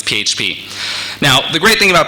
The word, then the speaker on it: PHP: PHP awesome I know what you're thinking it's pronounced FUP it's not it's not I looked it up it's PHP now the great thing about PHP is a